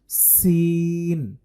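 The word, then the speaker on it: سين: পরবর্তী হরফটি হচ্ছে সিন এটার মধ্যেও সফির আছে অর্থাৎ এটাকেও বাজিয়ে উচ্চারণ করতে হবে এটার মধ্যে যে সাউন্ড থাকবে সেটা হচ্ছে এই শব্দটা থাকতে হবে চিকুন করে সিন সিন এটার উচ্চারণ হবে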